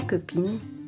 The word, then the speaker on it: copine: The stressed syllable in la copine is pin, because the final E is silent.